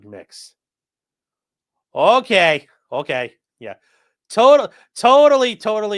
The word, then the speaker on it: Mx: sentence and then onorific mix pronounced like mix okay okay yeah total